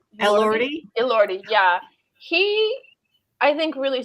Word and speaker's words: Elordi: Liordi? Elordi, yeah.